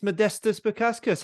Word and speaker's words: Modestas Bukauskas: have a very special guest with us it's Modesto spokaskus how you doing mate and you know what